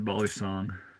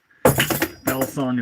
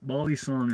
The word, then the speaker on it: balisong: F knife for Bal song proper name is Bal song butterfly knife I guess it's the American term for it um but everyone who's into him calls him Bal songs or bisong bisong is the incorrect way to pronounced it but